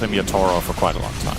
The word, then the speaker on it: Yatoro: doing that lately yeah yaduro sounds it's like super awful American accent you know I feel like I've called him yatoro for quite a long